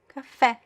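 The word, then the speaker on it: café: The stress goes to that syllable, right? Cafe cafe.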